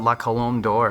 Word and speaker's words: La Colombe d'Or: Tell me about La Colombe d'Or and why it's special to you.